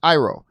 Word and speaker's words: Iroh: I was just watching it last night because I heard somebody else say to me, it's that Iroh's name is actually pronounced Iroh.